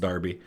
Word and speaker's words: Derby: that was talking but that's Darby I think it's pronounced Darby reaching Shrewsbury on the